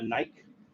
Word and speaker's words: Nike: in, almost like a Nike swoosh, but the bottom side of it, right? Or as the Brits say it, a Nike, because that's how it's spelled.